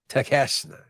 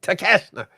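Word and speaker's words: Takeshita: The New International Champion that's how you say his name tashna yes I thought it was how how you Tak oh okay no tashna but yes he is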